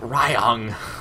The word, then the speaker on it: Ryung: I read this the Y. Ryung. This is a lot easier for me because in Norwegian, the Y is pronounced differently. It's pronounced E. Ryung, so it's very much easier for me to say it that way.